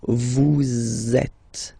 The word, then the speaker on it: vous êtes: So in that case, vous is ending with S, and then you tend to make a little link between them. So vous êtes, z, it goes like that.